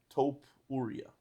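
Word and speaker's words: Topuria: Taupe Ura.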